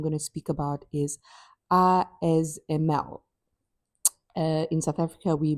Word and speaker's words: ASML: to speak about is ISML. uh in South Africa we might pronounce it as ASML or in other parts of the world but in the Netherlands it's called ISML and it's one of